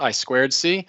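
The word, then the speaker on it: I²C: or SPI I think sometimes this is pronounced I squared C but I just learned it from reading so i2c or SPI those are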